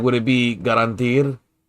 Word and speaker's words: garantir: So it's more of an E sound, not you don't really say the R at the end of it.